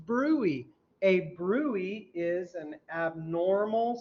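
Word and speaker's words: bruit: yes yes brewy is spelled Brew it is pronounced brewy a brewery is an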